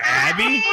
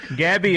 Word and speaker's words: Gabby: again Abby Abby Abby I just called her Abby what the the G didn't work that silent G it's you now have a silent G in your name Gabby as always we really